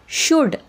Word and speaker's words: should: सगळे काय काय आहेत याचे याचे एक्झाम्पल्स आहेत शुड वुड आणि कुड इथे बघा एल च्या नंतर